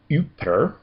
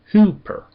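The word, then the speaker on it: ὑπέρ: Uh the next word without uh accounting for the rough breathing mark would be uper but with uh the rough breathing mark it becomes who hooper hooper.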